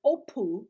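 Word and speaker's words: ὅπου: That word here is the Greek word opu. It's spelled O-P-O-U.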